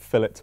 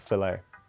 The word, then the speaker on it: fillet: Also, do Americans find it weird that we pronounce it fillet burger and not fillet?